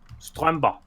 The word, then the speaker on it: Stromper: Stromba. Thank you. Stromba. No, there's not so much emphasis on the R, just Stromba.